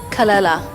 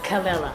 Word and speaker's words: Kelela: So what's the correct pronunciation? Kelela. Kelela.